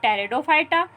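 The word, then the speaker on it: Pteridophyta: ठीक है, ये पी इसमें साइलेंट होता है, इसको हम क्या बोलते हैं, टेरिडोफाइटा।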